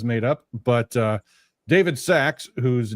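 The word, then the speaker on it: Sacks: it's so small but it's spelled like sack like a sack of something s c KS uh he is going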